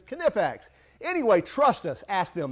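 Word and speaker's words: Knipex: that's from canipex yes it's cu nepex is the right way to say it's not nippex it's kinepax anyway trust us ask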